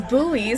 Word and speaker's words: buoy: If it's buoy, spell it buoy. Don't trick me. It's B-U-O-Y. Boo... Buoy. Boy. Boy buoy. You know, I've just never heard it say boy before like that.